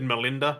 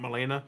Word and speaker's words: Molina: was there just he also said the person's name wrong he said Melinda not Molina but that's har said that I just said